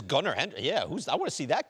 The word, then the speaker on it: Gunnar: It shows first of all, proper pronunciation of your first name. Gunnar Gunner.